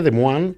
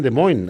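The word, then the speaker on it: Des Moines: Se pone de los franceses en realidad sería de Moan. de Moan. Los americanos dicen de Moin.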